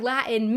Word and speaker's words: Latin: And then more recently when I put out the video on Pig Latin, I said the word Latin many times in that video without the T being pronounced in the middle.